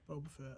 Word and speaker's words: Boba Fett: heard nothing but good things the original uh boba fett ain't that how you pronounce his name yeah boba fett yeah he he uh passed away the other